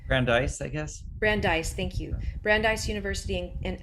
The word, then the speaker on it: Brandeis: Did I pronounce that correctly? Brandeis, I guess. Brandeis, thank you.